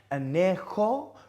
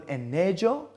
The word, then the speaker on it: añejo: then have añejo tequila, pronounced añejo rather than añejo, and añejo tequila would be aged tequila.